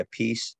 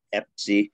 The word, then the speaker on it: Appice: But I wouldn't go by Appice, Epsi, Apache. I'd go by APICE. Hey Lee, let's hear your version. How do you pronounce it? I thought it was a piece.